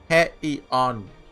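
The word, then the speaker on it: Heian-kyō: Hello everyone, we're back with Fate Grand Order with Heian-Kyo. I've realized I've been saying it wrong. It's just I have it so ingrained. It's Heian-Kyo. So, I'm just saying Heian. Close enough, right?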